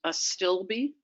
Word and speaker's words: Astilbe: of the saxophrage family it's pronounced a stilby there are 14 species